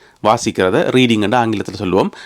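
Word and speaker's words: Reading: ஆட்கள் விழுந்து விழுந்து சிரிப்பினம் அது ரீடிங் கிடையாது ரெடிங் ரெடிங் அதுல உள்ள ஏ தூக்கிரனும் ஏ எடுத்து போட்டு ரெட்டிங் என்று சொல்லணுமாம் என்ன இது எழுதுறது ரீடிங் என்று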